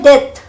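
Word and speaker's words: debt: सो कर्ज होता है डेथ, डेथ प्रोनाउंसिएशन डेथ है।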